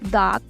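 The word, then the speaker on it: dağ: suave, como por ejemplo dag. Dag tiene una G suave al final. Dag significa montaña, pero se alarga un poco como la A que digo. Dag no es como una pronunciación tan fuerte como, no sé, si dijéramos gato, por ejemplo.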